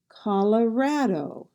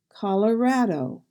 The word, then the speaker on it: Colorado: The second O sounds like Colorado, Colorado. And in Iowa, we have Iowa, Iowa.